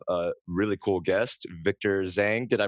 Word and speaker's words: Zheng: today we have a really cool guest Victor Zang did I pronounce that right correct yes well Victor welcome